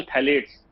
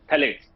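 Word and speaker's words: phthalates: दूसरा chemical थैलेट्स, P silent है, PTHALATES, थैलेट्स।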